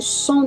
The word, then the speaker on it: cent: E vamos para o último, que 100, como seria 100 em francês, eu pronuncio som, não falaria o T, som, mas com a vogal, sim, eu falo.